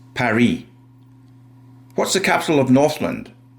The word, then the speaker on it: Paris: It's called Paris in English and in French it's Perry.